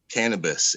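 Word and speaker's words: kaneh bosem: was saying prosperity is kane basem k-a-n-e-h-b-o-s-e-m it's actually hebrew and it's pronounced wait for it cannabis and it's the secret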